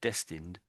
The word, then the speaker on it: destined: So destined. I think you I think you said you s pronounce the ed. You weren't quite right on the ed there.